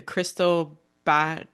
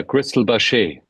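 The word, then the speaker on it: Cristal Baschet: pronounce this instrument correctly the crystal B is that right yeah Crystal bash bash um yeah so how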